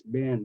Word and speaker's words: been: usually but they're exception look the word Bean it should be Bean right because we have teen and green but no it's been like b i n it's an exception to the rule Where Have You Been